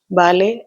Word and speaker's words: ballet: It's a type of dance ballet. You can observe my pronunciation also here. T sound is silenced. It's ble.